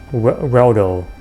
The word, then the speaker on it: Reldo: In here we will talk to Reldo. Rhymes with Waldo, but anyway, Reldo.